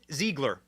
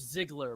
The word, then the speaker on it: Ziegler: Ziegler. Am I saying it wrong? It's Ziegler, but it's Ziegler.